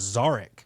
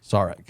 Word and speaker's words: Zarek: No, the real pronunciation is Zarek. Zarek.